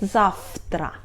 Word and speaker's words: завтра: We write завтра but we pronunciate .